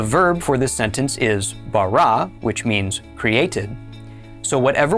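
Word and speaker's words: בָּרָא: This is pronounced bara.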